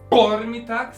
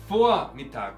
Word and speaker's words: Vormittag: La V inicial en alemán, en palabras alemanas, se pronuncia normalmente como una F. No como Vormittag, sino Vormittag, como una F.